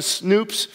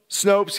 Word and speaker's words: Snopes: sure I went to snoops is that what it's pronounced nope snoops Snopes yeah I don't know